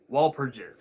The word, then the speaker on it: Walpurgis: Walpurgis, I believe is how it's pronounced.